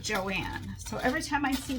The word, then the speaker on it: Joan: a grocery bakery store whose name was spelt Joan, J-O-A-N, except she pronounced it Joanne.